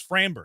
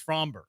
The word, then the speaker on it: Framber: He says Framber. It's Fromber. Yep.